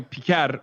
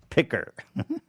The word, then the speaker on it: Piker: It's normally Piker, but still like it's pretty funny that he's going out of his way to deliberately mispronounce it, which I love.